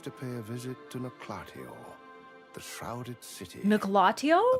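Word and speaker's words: Noklateo: pay a visit to Noclatio, the shrouded city. Noclatio? A place that was once part of a greater whole. Okay, that's much cooler than I was saying Noclateo.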